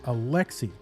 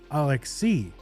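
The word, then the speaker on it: Alexei: on the left like Alexi because in Russian it's definitely Alex C with an emphasis on the last syllable so who knows really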